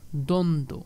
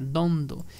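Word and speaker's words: দ্বন্দ্ব: extra করে যুক্ত হয়েছে তখনও কিন্তু সেই ব এর উচ্চারণ অনুচলিত থাকবে সান্ত্বনা দ্বন্দ হ্যাঁ দ্বন্দ তো এগুলো আমরা খেয়াল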